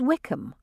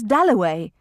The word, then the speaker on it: Dalloway: somebody had brought over and Clarissa got his name wrong she introduced him to everybody as Wickam at last he said my name is delaway that was his first